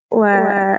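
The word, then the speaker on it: は: Nah, jadi ee memang cara bacanya ini adalah wa sorisannya H tapi di Jepang ya itu ada namanya partikel.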